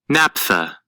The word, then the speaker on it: naphtha: Naphtha, pronounced naphtha, is a flammable oil containing various hydrocarbons obtained by the dry distillation of organic substances such as coal, shale, or petroleum.